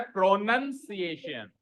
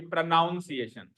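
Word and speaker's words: pronunciation: जबकि स्पेलिंग क्या है, स्पेलिंग है NUN, स्पेलिंग क्या है। अब ये नाउन है या नन है, ये नाउन है या नन है, नन। तो फिर क्या होता है, प्रोनंसिएशन, ना कि प्रोनाउंसिएशन, ठीक है।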